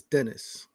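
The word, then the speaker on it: Denys: How about Dennis? Spells like Denny. No, it's Dennis. Shit. It's just phonetically spelled. It's Dennis.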